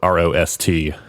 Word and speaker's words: Rost: Because her last name is spelled R-O-S-T.